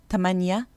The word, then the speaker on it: تمانية: The letter th is never ever pronounced th in Egyptian dialect. In fact, most Egyptians will struggle to pronounce the th even when they're speaking Fusha. So the th becomes one of two things. In some words, it becomes a t, as in the numbers اتنين, تلاتة, تمانية.